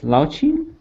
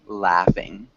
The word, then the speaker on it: laughing: The next picture is Lauchi. Close. The pronunciation is actually laughing.